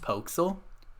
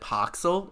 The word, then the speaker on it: Poxel: actually pronounced Pokesel, but everybody Pokesel. pronounces it Poxel or Pixel.